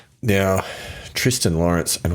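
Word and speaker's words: Thriston: Now Tristan Lawrence and I think it is actually a Tristan even though it's spelled Thristan Andy Walker that that's what they were pronouncing. They were pronouncing Tristan funky funky South African name.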